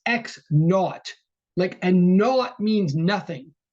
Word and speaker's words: x naught: read x sub 0, we would read it out loud as x naught.